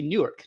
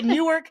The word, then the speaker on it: Newark: And actually, depending on how you pronounce it, like if you're one of the locals, the biggest city with one syllable is actually Newark, New Jersey.